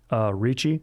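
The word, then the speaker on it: Reiche: states and maria reich ricci actually like nicole richie that's how it's spelled a german mathematician and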